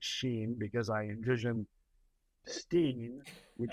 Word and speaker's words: Shein: Shein, by the way, I pronounce it Sheen because I envision Steen would shop at Shein, have not ordered there.